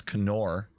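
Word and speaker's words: Knorr: bouillon from kenor kenor I know that you pronounce the k you're wrong if you're saying nor it's Conor tomato bullseyon and they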